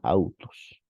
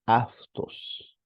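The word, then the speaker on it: αὐτός: esta forma no y se deben pronunciar no se pronuncian autos la mayoría pronuncia autos no esa es una pronunciación erasmiana nosotros pronunciamos como creemos que se pronunciaba en el griego kiní y cuál es esa pronunciación es aftos afu afto aft traducción el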